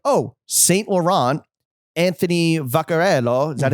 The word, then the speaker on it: Vaccarello: And it's just like, oh, Saint Laurent, Anthony Vaccarello.